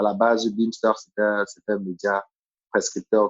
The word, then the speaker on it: Bimstr: Pour ceux qui ne connaissent pas, ça s'écrit Bimstr. Je préfère préciser parce que la façon dont on prononce n'a rien à voir avec la façon avec laquelle on l'écrit. C'est très laid là. Bimstr. Oui, Beamster. Beamster.